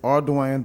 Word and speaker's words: Ardoin: It's Ardoin versus Rougeau.